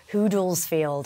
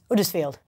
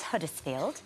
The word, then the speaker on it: Huddersfield: I said Huddersfield, where I'm from, Huddersfield, and apparently in the text underneath to translate, they put Hoodlesfield or something.